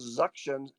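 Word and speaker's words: Xuction: the aerosols very quickly there's also another one called suction is x u ct ion or it is spelled with a z x instead of a z and it sits on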